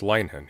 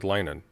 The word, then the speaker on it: Linehan: It's Leinhen. You said Leinen. You're saying it's Linehan?